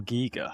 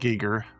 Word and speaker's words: Giger: Giga? How is that pronounced? Giger.